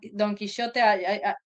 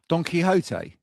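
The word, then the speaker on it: Quijote: Donkeyote is that how you call it? You know the the guy that was fighting windmills? Doniote. Yeah. Doniote in Spanish, but I don't know how you guys pronounce it.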